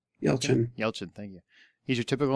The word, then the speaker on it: Yelchin: Yelchin. Yelchin, thank you.